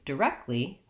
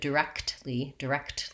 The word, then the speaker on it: directly: But when I change this word to directly, that changes. I don't have to do it directly. In fact, most Americans won't release those K and T sounds when it's a 3-syllable word like directly. It changes to more of a directly. That T pretty much almost drops off, and the K sound, directly, gets stopped but not released.